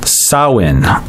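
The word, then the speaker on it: Samhain: where with their Celtic festival called soin which is interesting because it's spelled s am h AI n okay so somehow I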